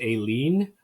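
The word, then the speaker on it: A Lien: Sorry, and that is Aileen. Is apparently is how it's pronounced, but it looks like Alien.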